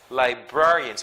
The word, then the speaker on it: librarian: I'm sorry librarian librarian if it's library if you referring to the word library so the stress is in the first syllable but for a person who manages the library is a librarian is that light it's not librarian its librarians for the stress is in the second syllable the Burke librarian okay